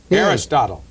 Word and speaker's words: Aristotle: great books arisol Carousel Aristotle yes arist Aristotle okay I could Aristotle I'm sorry it's old man Aristotle it's more my problem than yours rhymes with bottle thank you and why